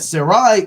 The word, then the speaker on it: Sarai: And Sarai, Abram's wife, Now, that's not Sarah, it says Sarai. I'm not pronouncing that wrong.